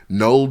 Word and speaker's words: Knull: out the nine but pull out the nine with the silent k nll did but by making